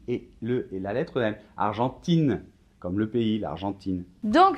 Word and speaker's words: Argentin: la tempe aden exactement un argentin le masculin on va pas entendre de haine alors que si je